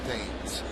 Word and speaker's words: Thames: Now, Eric spells his name the same way Marcus spells his name, the former Yankee, but Marcus pronounced his name Timms. Eric says his name is pronounced Thames.